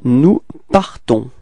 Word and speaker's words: nous partons: Okay, so final S is not pronounced as usual, so you only need to pronounce at the end this nasal, so O-N, on, on, on, alright, nous partons, repeat.